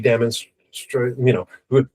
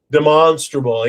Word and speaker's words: demonstrable: It has to be demonstrationable or de demonstrational. I never pronounce demonstraable. Demonstrable. Yes. I've got to speak with a bit of an accent.